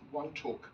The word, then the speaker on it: Wantok: I'm sure this is one talk place that's spelled w n t o k yes and W and